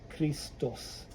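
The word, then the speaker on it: Христос: then you see the the x is pronounced like that Christos so Jesus Christos in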